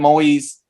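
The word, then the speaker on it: Moïse: last name right because I heard it pronounced Moise. I'm going to say President Moise.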